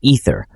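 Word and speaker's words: Aether: Using an ancient seemingly unlimited energy force known as the ether, pronounced ether, which looks like fruit juice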